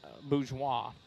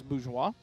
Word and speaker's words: Bourgeois: The head coach of the Elgin Wildcats is Jason Bourgeois, is the way it's pronounced, not Borges, so it is Bourgeois.